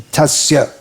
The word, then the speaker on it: tasya: But in proper Sanskrit pronunciation, it should be tasya. Firm, solid, sa.